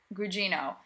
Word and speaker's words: Gugino: Carla, how do you pronounce her last name? Gugino.